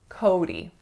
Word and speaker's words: Cody: Cody. So 2 syllables, and make sure that first syllable is really a full O sound. So it's not ko, it's ko.